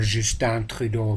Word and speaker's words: Trudeau: Canadian Liberal Party's leader, Justin Trudeau, or Justin Trudeau to pronounce his name consistently in a French way.